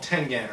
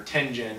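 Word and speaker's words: Tengen: They formed a new company called Tenen or Tenzen, depending on how you like to pronounce it.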